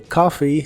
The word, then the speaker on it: coffee: coffee que significa café la o de coffee se pronuncia como una a profunda desde adentro coffee coffee y usaremos las